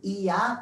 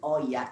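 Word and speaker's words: Oia: very popular spot called Ia. Please don't say Oya. Ia as in Ia, Ia, O, the song, that one. So you will remember the pronunciation of it.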